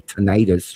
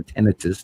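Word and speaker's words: tinnitus: don't have per se tonitis or tenitus depending on how you pronounce it, which side of the country you're from.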